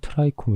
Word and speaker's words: 트리콤: 그래서 이제 트리콤에 대해서 길게 설명을 드릴 텐데요. 영어 발음으로 트라이콤 이라고도하고 우리말로는 인편(鱗片)이나 사상체, 모용(毛茸)이라고도 하던데.